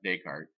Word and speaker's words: Descartes: You pronounce Descartes, Descartes, and then if you're talking about something that's Descartes-ish, that's where you get the idea of Cartesian, or that phrase.